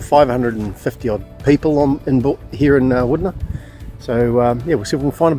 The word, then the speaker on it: Wudinna: It does look like Wudinna, but Wudinna, apparently, it's pronounced.